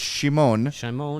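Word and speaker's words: Šimon: in the chat says the little mark over the s is pronounced like sh so it's shimon and region rev says that's correct she speaks slovak there you go so there you go shimon shimon or shimon hello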